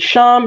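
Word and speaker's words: שָׁם: right like i said there's a difference between sean and shem they're spelled shin and mem so feet however the context will tell you if it's going to be pronounced sham or whether it's going to be pronounced sham right right and that can have a big bearing on how we interpret the text correct absolutely because shem means name and sham means their t-h-e-r-e so this means i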